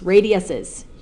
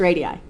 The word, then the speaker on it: radii: PF, PE, and PG are all radii, or the plural of radius, radiuses. You could say if you wanted to say it wrong, but technically it's radii.